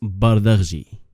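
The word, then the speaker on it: Bardghji: Everybody seems to mispronounce his last name. It's Bardi.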